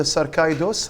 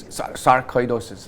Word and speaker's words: sarcoidosis: So what about the sarcoidosis, right? I pronounced it correctly? Sarcoidosis.